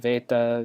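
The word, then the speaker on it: βῆτα: makes the ah sound beta sorry for the V sound so you'll know what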